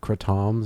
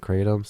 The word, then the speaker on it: kratom: what I mean like I say um crotons instead of kratoms because that's actually how you say it oh wow I didn't